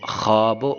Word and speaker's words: خواب: جیسے خود خیش وغیرہ۔ واو معدولہ وہ واو ہوتی ہے جو لکھنے میں تو آتی ہے لیکن پڑھنے میں اس کا تلفظ نہیں ہوتا، یہ واو کیا ہوتی ہے؟